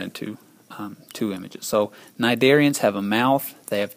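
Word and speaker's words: cnidarian: Next on the list are nidarians. Nidarian includes your jellyfish, your sea an enemies, your corals, your hydras. They're all nidarians. Yes, it starts with a sea, but the sea is silent. Pronounce it nidarian.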